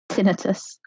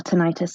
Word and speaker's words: tinnitus: Around the same time, I actually had a hearing test because I developed tinnitus or tinnitus, and I remember how you say it.